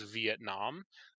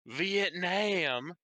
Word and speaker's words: Vietnam: in the war is Vietnam. That's actually closer to the pronunciation used by Vietnamese people.